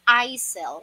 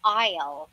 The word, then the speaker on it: aisle: walking down the isle some people usually pronounce this this as i sell which is wrong i sell a pronunciation i which is wrong they are both wrong the correct one is isle all right i'll so